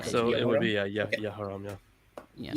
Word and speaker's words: Jehoram: I think English is Jehoram, yeah. Well, J, it's the A. I know that the Y is that Yeah. in Hebrew, so. Yeah, Okay, so it would be Okay. Yehoram, yeah.